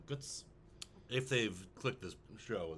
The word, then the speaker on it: Götz: calls him guts guts it's g-o with the um loud over it TZ and that's pronounced like guts if they've clicked this